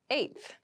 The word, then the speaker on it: eighth: on my 10th attempt eighth eighth eth eth refers to the number eight of something the pronunciation might be a little tricky so be careful with this one I live on the